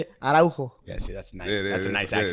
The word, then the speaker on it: Araujo: Araujo.